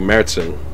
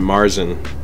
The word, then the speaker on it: Märzen: But it has the umlaut over the A, so that means it's pronounced like Märzen. But Americans pronounce it Marzen, and some of the